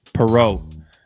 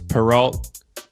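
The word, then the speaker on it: Perrault: It's Perau. You guys thought it was Peralt, but I'm actually French Canadian and my folks moved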